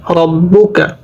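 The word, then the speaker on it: رَبُّكَ: করতে হয় ফাআলা রব্বুকা এখানে কোন টান হবে না তাশদি আসছে বা এর উপরে আর তাহসীদের উচ্চারণ দুইবার হয় প্রথমবার ডানদিকের হরকতের সঙ্গে দ্বিতীয়বার নিজ হরকতের সঙ্গে র জবর রব বা পেশ বু কাফ জবর কা রব্বুকা বি আসহা বিল ফিল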